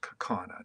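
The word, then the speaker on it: Kaukauna: C C and you finally tell well it's pronounced kakana just so you're aware and yeah your ride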